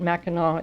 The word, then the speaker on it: Mackinac: if you Google it remember that Mackinaw is spelled very strangely it's m-a-c-k-i-n-a-c the other thing that is going